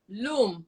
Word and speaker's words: Lum: Lum, like Lum. but it's spelled L-U-M.